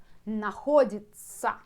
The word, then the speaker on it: находится: Находится. На, хо, дит, находится, находится. You see, if you divide, like I like to do, divide this long word by small parts, you can understand how to pronounce it.